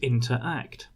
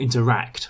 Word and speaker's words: interact: with the verb to interact. Or interact, rather. Get my pronunciation right.